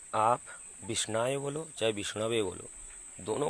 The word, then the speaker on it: विष्णवे: आप विष्णवे बोलो, चाहे अशुद्ध उच्चारण विष्णायो करके पूजा करो, कि द्वयोरैव समम पुण्यम, दोनों का समान पुण्य फल मिलेगा।